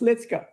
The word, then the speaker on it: Ritsuka: their name is Litzka it's written Ritsuka but it's pronounced Litzka.